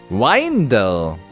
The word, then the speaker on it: Rindel: Rindel. So wird's ausgesprochen. Rindel.